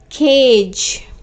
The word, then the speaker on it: cage: see one more example because the sound of e is not pronounced and this e has given its power to a so ah we are pronouncing this as long sound a okay we are pronouncing this as long sound a so how it is pronounced k age cage cage i hope the